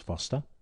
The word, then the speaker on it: Forster: Although it's spelt Forster, it is actually pronounced Foster.